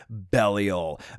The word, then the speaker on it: Belial: For pronunciation purposes, we are going to go with Belial.